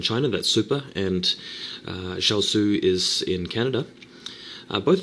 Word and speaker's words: XiaOzI: between super machine and shalu I think that's how you pronounce his name I said sheli in the previous commentary of this guy and then somebody told me it was shalu I'm going to I'm going to go with shalu he's the orange zg